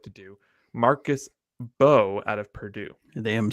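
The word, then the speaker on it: Mbow: Marcus Bowe out of Purdue. They am silent. I see that. Thank you for the pronunciation.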